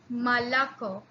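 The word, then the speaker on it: молоко: yeah all right so when o is not stressed it then it becomes the sound of almost air all right let's look at the example the example we have here is malaco malaco here this one this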